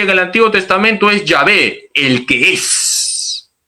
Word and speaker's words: Yahvé: Las 4 letras sagradas se pronuncian Yahvé.